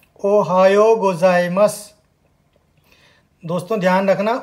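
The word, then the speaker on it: おはようございます: हम कहते हैं, उसको जापानी में बोलते हैं ओहायो गोजाइमस। दोस्तों, ध्यान रखना उच्चारण का, ओहायो गोजाइमस।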